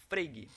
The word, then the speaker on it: Frege: Você escreve Frege, mas se pronuncia Freig, certo?